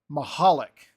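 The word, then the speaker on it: Michalak: chat here we go maholic maholic Chris maholic according to baseball reference so we're going with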